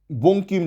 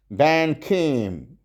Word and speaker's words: বঙ্কিম: বা বঙ্কিম যদি বানানটা দেন, যদি ইংরাজিতে দিয়ে দেন BANKIM, সে কীভাবে উচ্চারণ করবে, ব্যানখিম।